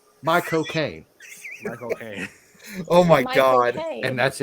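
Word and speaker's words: Michael Caine: know how to pronounce Michael Kane's name the way that he would pronounce it you just take the word cocaine and put my in front of it my cocaine Micha Kane oh my God and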